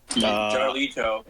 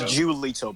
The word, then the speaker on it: Julito: Jarlito. It's Julito, bro. God, why you guys get his name wrong?